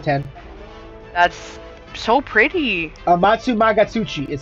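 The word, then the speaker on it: Amatsumagatsuchi: that's so pretty uh matsumagatsuchi is how you say its name by the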